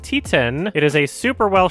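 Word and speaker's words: Titane: T10 when the Palm Door this year it is directed by Julia ducorno I have been incorrectly pronouncing it as Titan instead of T10 it is a super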